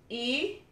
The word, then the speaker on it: iruni: E-ru-ni, I-R-U-N-I. E, I is pronounced like an E, E.